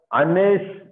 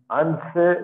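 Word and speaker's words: אַנְשֵׁי: Anse. See, here we should not pronounce this. This seva, because this is not a, this is a silent seva. So, Anse Mitzrayim. Anse Mitzrayim.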